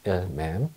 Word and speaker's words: il m'aime: 이런 경우엔 il m'aime이라고 읽습니다. il m'aime.